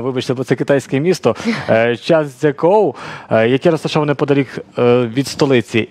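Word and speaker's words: 张家口: Я можу зараз вимовити трішки неправильно, вибачте, бо це китайське місто, Чанцзякоу, яке розташоване подалік від столиці. Як справи там? Так, місто Чанцзякоу, все правильно ви сказали.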